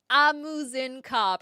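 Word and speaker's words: Ah Muzen Cab: Amuzinkarb. I was missing an extra syllable.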